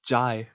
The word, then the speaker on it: Jai: What did you just call him? Jay, it's Jai. How dare you? I listen, I am French. I can mispronounce everything I want. It's Jai the guy. That's how you That's how he always tells me to remember his name.